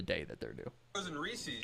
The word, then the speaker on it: Reese's: cause that's the argument for Reese's. Because then it actually rhymes with pieces.